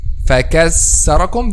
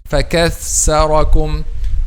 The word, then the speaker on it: فكثركم: فَكَثَّرَكُمْ. This is a clear letter sin, or a mixing like this. فكثركم. Okay, but the correct pronunciation is فكثركم.